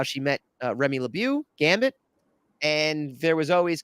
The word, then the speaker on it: LeBeau: at home it's LeBeau for the people at home but okay French pronounce it but all right go ahead that's true but I think I think X-Men I think the cartoon show pronounced it that way too so I feel